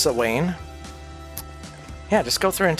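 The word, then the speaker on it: Samhain: It's pronounced sane.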